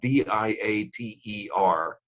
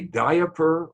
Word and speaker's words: diaper: there's another thing about d-i-a-p-e-r uh not s but singular and that is do you say diaper or diaper and my guess is am i correct that most of you go two syllables no i don't oh